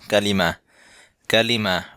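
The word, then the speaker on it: كلمة: word কালিমাতুন বা কালিমা যেহেতু শেষে গোলতা আছে যার কারণে উচ্চারণটা হবে অনেকটা হায়ের মত কালিমা কালিমা হচ্ছে শব্দ বা ওয়ার্ড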